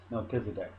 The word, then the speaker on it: Melchizedek: Melchizedek.